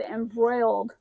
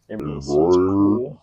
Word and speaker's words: embroider: seconds he said embroiled embroider once again there's no l honey okay I just like